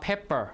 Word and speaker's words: pepper: What about pepper? You have two P's actually. You have, how do you say it? Pepper or pepper? Pepper, right? So stress is on the first syllable, okay?